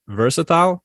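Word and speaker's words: VRSTL: the first domino fell v r s t l pronounced versatile is a digital fashion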